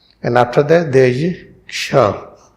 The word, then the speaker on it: क्ष: And after that there is Ksha. How we pronounce this?